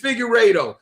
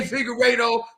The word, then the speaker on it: Figueiredo: My last name is Figueiredo. Nobody knew how to say Figueiredo my whole time in school. They like Fig.